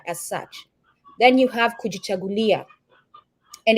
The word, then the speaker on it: Kujichagulia: must come together as such then you have kujichagulia and it's pronounced kui chaulia that sound in kahili is cha not K